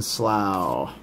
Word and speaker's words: Slough: Strength, and a Canyon Slough. Just, if you're having problems pronouncing that, just think cow. How do you say cow? You say it with an O-W. So do you with Slough. Canyon Slough.